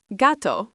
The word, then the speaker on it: gato: Gato, phát âm là GAH-toh, nghĩa là mèo khi đó là mèo đực.